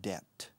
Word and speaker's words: debt: with a lot of debt. Deuda, debt. La B es muda en esta palabra, por favor. Debt. Se escribe debt, pero se pronuncia debt.